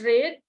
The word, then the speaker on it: read: the verb is read the present is read past tense is read and the past participle is red okay for the word uh the verb read for present pastors and past participle is uh pronounce this I mean uh spell it the same spell the same but it's pronounced just different okay that's foreign